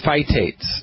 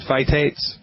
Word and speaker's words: phytate: selenium with a meal, there can be no phytates in the meal. And what's phytate? Well, let me spell that for you.